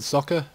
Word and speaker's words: Socke: I'm going to go with Socke because, well, he's German, so I think that's how you pronounce it. Yeah, because S is Z in German and they don't have silent E's.